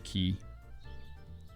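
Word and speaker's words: Qi: How do you pronounce I say Mr. key like K E Y. I think it makes the most uh sense in terms of um just like phonics.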